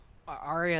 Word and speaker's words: Arya: is a good name it's short but it has three syllables which is kind of